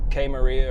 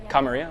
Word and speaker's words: Kamaria: each other nice place how do you say the name how kamaria okay I wasn't close with that new bit